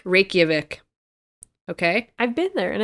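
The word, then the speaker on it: Reykjavík: the steam from its hot springs and it's rachelvic rape oh i was pronouncing this wrong help me here reykjavik reykjavik okay i've been there and i've been in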